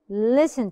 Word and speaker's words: listen: don't say listen no I don't say the T I don't I don't say listen I say listen to me stamina often